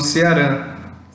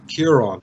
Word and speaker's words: Ciarán: Eu tô falando Ceará, tá certo? Não é, mas quase. É que, o jeito que a gente diz esse nome é Kieran, é um nome gaélico irlandês.